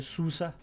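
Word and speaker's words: SUSE: L'organisation mère de Rancher est effectivement Suze. Ok. Alors pour être honnête, je le prononce entre guillemets à la française, mais je crois que faudrait prononcer sous ça, je crois.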